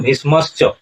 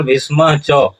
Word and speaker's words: भीष्मश्च: यहाँ पर उच्चारण करते हैं भवान भीष्मश्च, तो इस तरह से भवान भीष्मश्च उच्चारण नहीं होगा, उच्चारण होगा भवान भीष्म च।